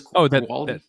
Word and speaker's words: Guaraldi: It's a piano, but that was actually by, I'm going to get his name wrong, Vince. Oh God, he did the Peanuts music for Charlie Brown. Vince Guaraldi.